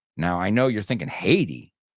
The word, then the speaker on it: Haiti: Now, I know you're thinking, Haiti? Like, ¿lo odias, Haiti? No, Haiti es como decimos Haití.